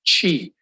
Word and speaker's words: Chi: just to help you my last name actually pronounced as Chi you say cheese you drop the S okay um I am